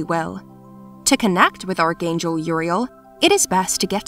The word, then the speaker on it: Uriel: of the apocryphal texts his name uriel is a male name of hebrew origin pronounced you're real which means god is